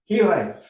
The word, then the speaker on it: hiraeth: Hiraeth. Everyone can say that with me. Say it. Hiraeth. The F on the end is represented here by a TH.